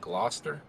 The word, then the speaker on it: Gloucester: the line and he improve that's how you pronounce that gloucester austin all right how about todd mays one